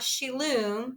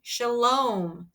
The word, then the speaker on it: Shalom: meinart shook his head no no not shiloom Shalom that's a Longo like home say it clearly with